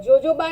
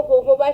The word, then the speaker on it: jojoba: forever aloe जोजोबा shampoo हो सी, यहाँ पे अगर मैं प्रोनाउंस करूँ एलो जोजोबा शैम्पू, लेकिन हम बेसिकली इसको प्रोनाउंस करते हैं yellow होहोबा shampoo is a perfect for